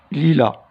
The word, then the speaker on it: lilas: Du lilas, alors S.